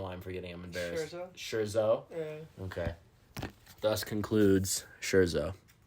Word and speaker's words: Scherzo: you please uh remind me the how you pronounce the name of this movie I don't know why I'm forgetting I'm embarrassed Shero okay thus concludes Shero